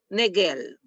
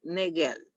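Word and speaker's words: Naegele: Ya esa es la regla de negel Ne neguel así se pronuncia ya la irregularidades menstruales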